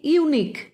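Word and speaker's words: unique: বি ইউনিক, এটাও তাই, ইউ দিয়ে শুরু হলেও প্রোনাউন্সিয়েশনের সময় ওটা ওয়াই দিয়ে ওয়াই ও ইউ হচ্ছে, সেই জন্য এটাকে এরও আগে এ বসবে।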